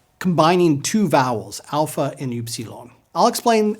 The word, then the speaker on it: Upsilon: Upsilon. It's pronounced like the French U. Keep the mouth shaped as you would to pronounce E, but then vocalize or pronounce the oo sound.